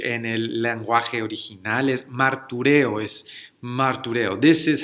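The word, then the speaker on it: μαρτυρέω: Esta palabra, this word, in the original language, en el lenguaje original, es martureo, This is how you pronounce it, and if you listen to that carefully, si escuchamos ahí, esa palabra suena familiar, that word sounds familiar.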